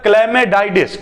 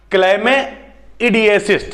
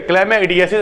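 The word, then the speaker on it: chlamydiasis: उसके बाद होता है क्लेमेडाइडिस। ठीक है, क्लेमेआइडिस। ठीक है, थोड़ा सा गड़बड़ यहाँ पे प्रोनाउंसिएशन हो रहा है, क्लेमेइडियासिस। ठीक है, क्लेमेइडियासिस।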